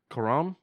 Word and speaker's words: Cuarón: Cuarón.